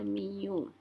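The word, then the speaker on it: μ: Ini namanya mu, cara bacanya mu.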